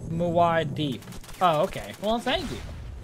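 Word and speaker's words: Muad'Dib: Pronounced Muad Deeb.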